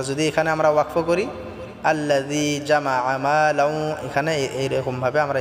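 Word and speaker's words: الذي: আল্লাযী জিটা আমরা পাতলা করে এক আলিফ টেনে পড়ব।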